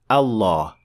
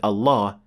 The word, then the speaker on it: Allah: full mouth lamb or as we call it in English the dark l as in the word luck and pronouncing Lem like